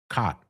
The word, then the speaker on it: caught: Caught. My mouth is open when I finish. Cot. So cot rhymes with bot.